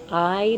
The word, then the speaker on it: hay: sign out that says, "I Nacatamales." And I is spelled Hay. It sounds like I.